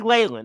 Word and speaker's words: Leyland: Leyland, it's officially Leyland. I have now been told it's Leyland.